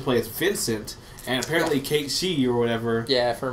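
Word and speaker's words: Cait Sith: Yeah, I used to say Kate. Kate Sith, because that's what it's spelled like. That's what it spelled like. But it's like Kate She or something.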